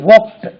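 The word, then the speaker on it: walked: தே வாக்ட் தே வாக்ட் உச்சரிப்பு கவனிங்க w எல் கே இடி வாக்ட் வாக்ட்ன்னு சொல்லுவோம் வாக்ட் they வாக்ட் around the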